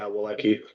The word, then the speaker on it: Wolecki: Is it Wolecki? Yeah, Wolecki. Wolecki, very good.